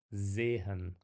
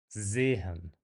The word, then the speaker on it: sehen: There's no vibration to it, whereas a standard single S kind of vibrates. Sehen, sagen.